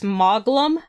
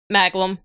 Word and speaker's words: Maglam: with english subtitles so they're pronouncing their a's like they do in japan oh okay so over here people will say maglum so whichever way you